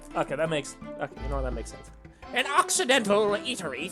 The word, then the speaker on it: Occidental: So it's like accidental, but it's occidental. Okay, that makes... Okay, you know what? That makes sense. An Occidental eatery 3 days ago.